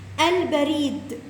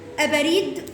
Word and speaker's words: البريد: لو قلت مثلا كلمه البريد، ينفع اقول ابريد؟ ينفع الغي دي اقول ابريد؟ لا، ما ينفعش، باظت الكلمه.